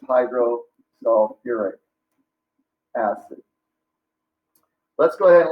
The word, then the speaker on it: hydrosulfuric: because as we mentioned, any acid that contains sulfur is going to add a UR syllable right before the ending. So H2S is not, it begins with hydro, but it's not hydrosulfic, it's hydrosulfuric.